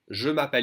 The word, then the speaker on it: je m'appelle: Je m'appelle Isabelle. And the French will always pronounce it faster and they will skip this E and say, je m'appelle.